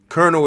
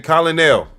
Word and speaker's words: colonel: Colonel is spelled colell. You know when you was a kid and you seen that word, you said, "Hey, Colinel." Your teacher immediately corrected you was like, "No, it's Colonel."